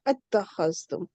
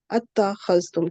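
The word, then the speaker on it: اتَّخَذْتُمْ: ठीक है, इन्हें, वरना हमें क्या होता है कि आ को हम अलग पढ़ते, फिर इत्ता को अलग पढ़ते, तो वो फिर प्रोनाउंसिएशन में मुश्किल हो जाता है, तो वो हमजातुल वसल को ड्रॉप कर दिया गया।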